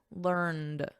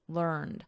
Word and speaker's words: learned: So notice we have a soft T here, learnt. And then in American, learned with a soft D, learned.